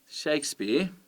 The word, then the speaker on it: Shakespeare: here to discuss shakespeare you can hear that it's the first syllable that is emphasized shakespeare okay so stressed and unstressed if you did them the other way around they wouldn't sound right shakespeare with the stress on the second one and that's because they're